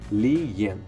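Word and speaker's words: Li-en: A pronúncia do nome de Lian é a mesma coisa do americano para o japonês, tá? Se pronuncia Lian.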